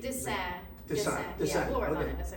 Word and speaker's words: Dassin: pronunciation? Dassin.